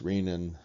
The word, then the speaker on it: renin: and an I n I always pronounce this rainin and most people do we'll talk a little